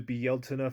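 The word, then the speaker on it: Bealtaine: Obviously, this includes the Bieltana Fire Festival, most commonly called Beltane. Neither are incorrect pronunciations, just whether you want to use the Irish name or a more anglicized name, it's referring to the same thing.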